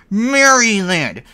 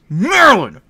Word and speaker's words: Maryland: It's not Maryland. It's Maryland. Maryland. Get it right.